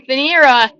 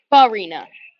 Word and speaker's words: Farina: So a runner into scoring position for Oakleaf is Steven Fanera. Comes through with a 2-out double. Next up for Oakleaf, first baseman, number 30, Isaiah Flynn. Farina. I've been saying it wrong this entire time.